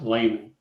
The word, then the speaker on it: Lahman: Yes, and it's pronounced Lehman.